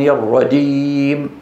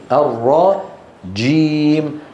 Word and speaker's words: الرجيم: الشده انحباس الصوت صعبه من الاخطاء في الجيم تغيير مكان نطقها بدل ما ينطق من هنا بينطق من طرف اللسان بيقول لك من الشيطان الرجيم الرجيم تكاد تسمع ماذا دال يج يعلون يجعلون هذه شو شبيهه بالدال او ياتي لا ياتي بصفه الشده فيقول الرجيم ج هذا الصوت